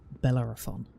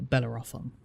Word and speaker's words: Bellerophon: I think it's supposed to be pronounced Bellerophon. But a lot of people, some people I've heard say Bellerophon. I think that's more of like trying to pronounce it by reading it rather than Bellerophon.